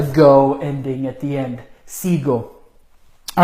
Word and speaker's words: sigo: But aquí tenemos, if it were a normal verb, it would be sigo, G-U-O. And that's just not how you say it. It's sigo.